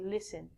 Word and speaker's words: listen: is listen we don't say listen we say listen listen is like hearing you do it with